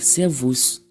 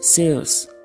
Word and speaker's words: servus: Attention, le S ici se prononce S et non Z, malgré qu'il est suivi d'une voyelle, parce que servus est un mot latin et non un mot allemand.